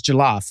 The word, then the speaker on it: jollof: Okay, how are you pronouncing it? Because they say it's jollof.